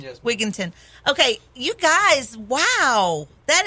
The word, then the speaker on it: Wigington: Wigington.